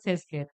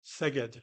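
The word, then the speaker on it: Szeged: the hun research institute sees I may be pronouncing it wrong sees is okay seed seed okay yes Dr.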